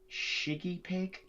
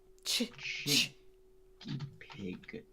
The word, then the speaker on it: chiggy pig: Shiggy pig? Chiggy pig. Chiggy pig. Like with CH.